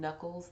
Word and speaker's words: Nuckles: I'm Knuckles that's knuckles similarly pronounced like the back of your hand but there is no K at the beginning of my last name FYI so we are